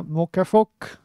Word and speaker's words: Muckefuck: So mind your pronunciation, yeah. Pronounce it in a German way, yeah. Muckefuck, yeah. A, yeah.